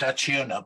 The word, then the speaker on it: Acciona: financial officer of a Spanish energy company, I pronounce it Acciona, but I think your Spanish is better than mine.